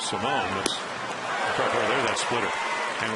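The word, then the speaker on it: Simón: Simone can actually the pronunciation of his name, it was Alfredo Simon last year. He's since changed it to Simone.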